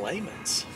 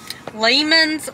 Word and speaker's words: Lehman's: going to go to layman's lehman's layman's house the correct way to say it depends on where you're from i guess but layman's